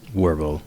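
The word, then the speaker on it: Wirbel: with the is it webell how do you pronounce his name Christian yeah it's webell webell worble yeah like I like how they're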